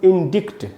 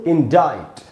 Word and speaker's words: indict: अच्छा दोस्तों, देखने से क्या लगता है कि इसका उच्चारण होगा इंडिक्ट, ऐसे हमको लगता है, लेकिन है नहीं। इसका उच्चारण दोस्तों इंडाइट, इंडाइट। अब ये सी इसमें साइलेंट है।